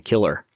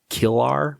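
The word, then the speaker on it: Kilar: executive restructuring under ceo jason killer is that really his name jason killar maybe it's pronounced k-i-l-a-r the hollywood reporter notes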